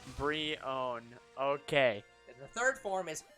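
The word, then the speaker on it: Brionne: the wild zelda franchise the critical consensus and this is on reddit because i don't have a better source is three pre-owned o-w-n brion yeah free own so that's how you pronounce the middle form b-r-e-e-o-w-n free own brie own okay the third form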